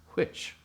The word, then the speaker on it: which: Now, most people nowadays don't pay any attention, but the HW sound is spelled WH, which. And in Shakespeare's time, it was spelled HW, which makes sense, which.